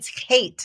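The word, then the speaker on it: חטא: It's hate is actually the way you pronounce it.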